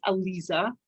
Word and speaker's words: Alyza: My first name is actually pronounced Alyza, not Alyza, but that's all good.